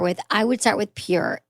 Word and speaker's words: pjur: I love Pure Lube. It's spelled PJUR.